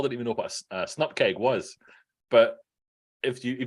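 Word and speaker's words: snupkg: But yeah, Paul found out about snupkegs yesterday because he hadn't heard about them before, and then he didn't like my pronunciation of that one either. But the snupkeg is just it's how you pronounce it.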